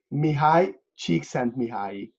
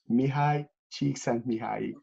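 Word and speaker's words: Mihály Csíkszentmihályi: whose name always pronounced bad. Yeah. His name is Mihály Csikszentmihalyi. Mihály Csikszentmihalyi.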